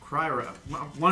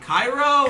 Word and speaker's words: Cryo: basitea um so cryro cry one of these are gonna say cairo it's not cairo no cryo it's not iron the dragon like cryogenic it's not hard to